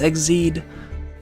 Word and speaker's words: Xyz: Yeah, Exceed is pronounced like XYZ is pronounced Exceed as well.